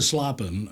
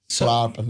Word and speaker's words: slapen: Yeah, I would zij lag te slapen, and I would write it how zij, I lag, te, TUH, slapen, SLARPUN, slapen, and then try and put the little Dutch accent on it.